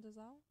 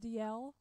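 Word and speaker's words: Dalziel: Ryan Dazelle? DL. That said, you say that DL? Yes. Ryan DL. You did not pronounce the Z.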